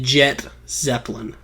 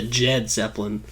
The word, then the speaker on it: Jet Zeppelin: said my name wrong it's the jet zeppelin not the jed zeppelin i'm not ripping off led zeppelin i am you see